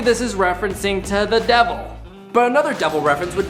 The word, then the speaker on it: De Vil: Horace: It’s spelt Devil but it’s pronounced De Vil.